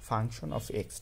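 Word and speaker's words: f(x): এটা এফ এক্স না, আসলে এটা বলে উচ্চারণ করে হচ্ছে ফাংশন অফ এক্স, ঠিক আছে?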